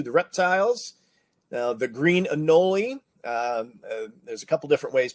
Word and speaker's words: anole: i say it too anoli rhymes with cannoli now this is our